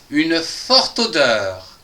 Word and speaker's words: forte odeur: La cinquième phrase, une forte odeur, avec, ici, on va prononcer le TE avec le O, qui va nous faire to.